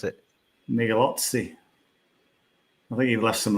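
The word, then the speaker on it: Migliozzi: My pronunciation of Guido Migalath. That's not his name, though. How do you pronounce it? Migalozzi.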